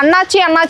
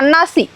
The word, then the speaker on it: அன்னாசி: அதாவது நம்மளுக்கு இத்தனை நாளாக தெரியாமல் இருந்தது ஒன்றுன்னு பார்த்தீங்கன்னா அண்ணாச்சி அப்படி தான் நம்ம ப்ரொனவுன்ஸ் பண்ணிட்டு இருப்போம். ஸோ இதோடைய உண்மையான வேர்ட் பார்த்தீங்கன்னாக்கா அன்னாசி.